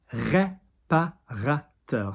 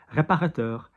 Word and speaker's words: réparateur: Spray, réparateur. So ré, R-E, pas going higher, ra going higher, teur, réparateur. Spray réparateur, next word, like calming, soothing, apaisant.